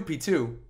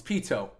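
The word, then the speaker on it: Pitou: if that's what you guys really want for the next emote i could do p2 or pito i keep saying it wrong it's pito that's a good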